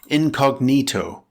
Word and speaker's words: incognito: How to pronounce INCOGNITO - INCOGNITO it can be an adjective or an adverb with four syllables, stress the third syllable. It's pronounced in-cog-NEE-toe Let's look at an example where it's used as an adjective.